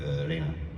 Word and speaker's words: Rena: R-E-N-A. Yeah, if it's Japanese, that would be Reina.